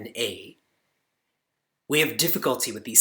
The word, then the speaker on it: Krishna: And for you to note, there's no I in Krishna. It is Krshna.